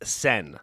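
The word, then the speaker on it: Seine: abotsi 05 thank you it's pronounced sen sen so the sen river is disgusting that's my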